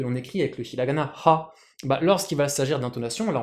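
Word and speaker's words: は: écrit avec le hiragana ha, lorsqu'il va s'agir d'intonation, là on parle simplement de phonétique, on va l'écrire bien sûr avec le katakana wa, parce que même si c'est ha, ça se prononce wa, donc vous comprenez le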